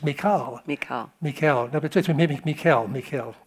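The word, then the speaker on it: Michal: I I've always said Michael it's mik mik Mikel Mikel Mikel kind of like Michelle yeah Mikel Saul's daughter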